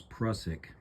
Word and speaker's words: Prusik: For some reason, I seem to always want to call this a Prusik knot, but most people seem to pronounce it as Prusik.